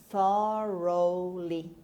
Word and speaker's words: thoroughly: means mixed together thoroughly thoroughly first of all gh is not pronounced thorough in about through